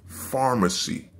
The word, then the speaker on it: pharmacy: So food industry, fashion industry, pharmacy. You know what I'm saying? Of course, you know, pharmacy spelled with a PH. So it sounds like an F, but let's just say it's the, you know what I mean?